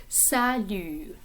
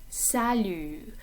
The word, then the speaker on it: salut: Salut, salut. Notice the T at the end of this word is silent.